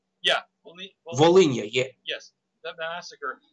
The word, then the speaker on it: Volhynia: which article, that they said that basically the Volnila massacre. How do you say it? Volnila massacre. Am I pronouncing it right? Volnila massacre. Actually, Anyways, Volhynia. Yeah, Volhynia.